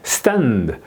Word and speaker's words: stand: 그다음에 여기서도 이제 stand 예, 이렇게 이제 발음을 해야 되는 거죠.